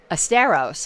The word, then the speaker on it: Asteros: Asteros, like Fred Astaire, even though it's spelled Asteros.